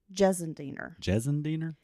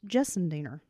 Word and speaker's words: Gissendaner: lot of personal feelings about this woman, Kelly Gissendaner, Ugh. that we'll be discussing today. Kelly Gissendaner? Gissendaner. I even looked up how to pronounce it because it's got a different kind of spelling, but it's pronounced Gissendaner.